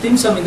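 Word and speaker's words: 點心: 근데 그게 중국식 발음 딤섬인데 원래 딤섬이 차와 곁들여 먹는 음식.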